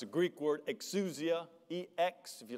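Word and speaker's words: ἐξουσία: It's a Greek word, exousia, E-X, if you like to spell it with English letters, E-X-S-O-U-S-I-A.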